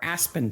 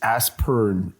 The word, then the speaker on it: Aspern: I now I now is It aspurn tallow or aspen tallow. It is according to how it is spelled. It is aspern. A s p e r n. But we don't know if that r is soft or not.